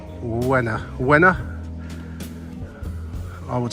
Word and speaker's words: Łyna: Uh, it's the the L with a little thing on it, which is pronounced a bit like a W. Y N A. Wa. Wa. I would say winner. River. Wena.